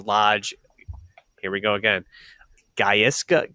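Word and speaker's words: Gaizka: Gaisa. Gayiska. Giska. Yeah. Giska. G A I Z K A. And that's how I would pronounce it.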